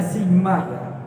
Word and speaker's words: sigma: angkat jatuh seperti itu itu dibacanya simak jadi X bab =